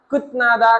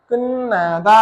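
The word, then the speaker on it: 끝나다: ठाउँमा यसलाई कुन्नादा नपढेर कुत्नादा कुत्नादा भनेको पाइएको छ। त्यो कुत्नादा होइन यो है यो उच्चारण चा चै क्लियर गर्नु होला कुत्नादा नभएर यसको उच्चारण चा चै के हुन्छ कुनादा हुन्छ है के हुने भयो अब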